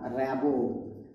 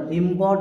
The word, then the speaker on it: Rimbaud: আর্থার র্যাবো। উচ্চারণটা দেখো, RIMBAUD, উচ্চারণটা কি হবে? র্যাবো, কখনো রিমবর্ড বলবে না, র্যাবো, ঠিক আছে?